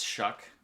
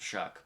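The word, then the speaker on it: Shough: uh i was wrong it's shuck i i don't understand how s s-h-o-u-g-h comes out to shock but it does apparently 21 for 3 312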